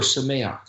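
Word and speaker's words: שמח: It's pronounced simcha or sameach.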